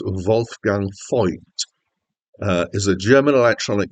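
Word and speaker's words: Wolfgang Voigt: Wolf Gang void or possibly more accurately pronounced wul gang F uh is a ger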